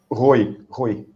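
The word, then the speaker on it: Ruy: Is that how you pronounce it, Rue? Rui. Roy? R-U-Y. Rui.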